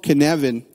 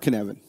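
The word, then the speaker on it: Cynefin: worth looking into this it's called canvan it's a Welsh pronunciation um it's a framework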